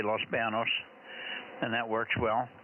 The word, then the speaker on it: Los Banos: you said you said Los Banos fine it's a it could be Los BOS Los Banos with a Tila over the end but most people just say Los Banos and that works well